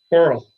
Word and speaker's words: Korell: Coral. Like coral reef.